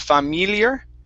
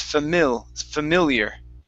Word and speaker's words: familiar: Now, the first I you come to, it's going to be a short I. Instead of familiar, it's familiar.